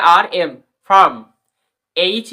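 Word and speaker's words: farm: park তারপরে star ফম এফ এ আর এম ফারম এইচ এ আরডি কি হবে হারড কিন্তু এখানে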